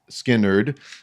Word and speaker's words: Skynyrd: Uh, the album is pronounced Skinnard, but uh, you know, Freeird's on here.